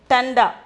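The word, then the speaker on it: ठंडा: the 12th one tanda tanda pronunciation is thunder meaning is cold meaning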